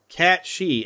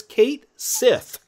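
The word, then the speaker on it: Cait Sith: And I've heard some people pronounce that character as Cat She. I'm like, why would you call it Cat She when clearly when you look at it, it says Kate Sith.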